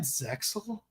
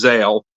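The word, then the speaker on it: ZEXAL: yeah different Yuma yeah isn't it zexel that's the English pronunciation the Japanese pronunciation is Zale because XYZ xzs I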